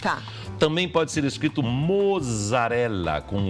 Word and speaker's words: mozzarella: Se escrever com O e Z, mozzarella. Não posso falar mussarela aqui. Não, está escrito mozzarella, você não vai falar mussarela.